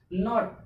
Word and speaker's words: naught: FIT, fight, fight means लड़ना या मार झगड़ा करना है, इतना का प्रोनाउंसिएशन होना चाहिए। नॉट, नॉट मीन्स क्या होता है, सुन, NAUGHT, यहाँ